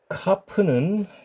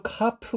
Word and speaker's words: kaph: 중에 하나가 바로이 카프입니다 그러니까 강한 소리가 있고 약한 소리가 있다는 거죠 여기 강한 소리는 기본 소리고이 문자가 모음 뒤에 바로이어서 나오게 되면 발음이 부드러워지는 특징을 갖습니다 그리고 앞서 언급한이 지금